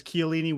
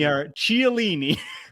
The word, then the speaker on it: Chiellini: And then A Brown G says, there's a lady sitting next to me that pronounces Chiellini with the chi from like cheese. Chiellini? And it upsets me. Chiellini.